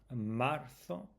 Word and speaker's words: marzo: Enero, febrero, marzo. Remember the th with sound with the z. Marzo.